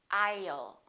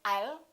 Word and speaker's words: I'll: I'll. Don't say I'll. Put a little between the I and the L.